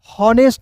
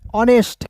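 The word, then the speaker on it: honest: रूप में करते हैं ऑनेस्ट होनेस्ट नहीं ऑनेस्ट क्लियर है ठीक है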